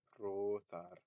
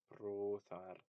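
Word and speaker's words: broþar: So, um, like let's say we have the word brothar, brothar. Um, this O is long, but long vowels aren't actually that much longer than short vowels. They're typically a little less than twice as long.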